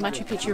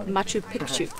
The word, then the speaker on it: Machu Picchu: just found out that we've been saying Machu Picchu wrong this entire time because Pichu and kitua actually means penis but uh if you pronounce it Pikachu that actually means Mountain so it should be said Machu piku not old not you